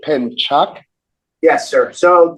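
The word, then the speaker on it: pencak: I'm sorry you said pen Chuck yes sir so the C is pronounced cha so if you don't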